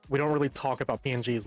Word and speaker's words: PNG: ping, it's PNG.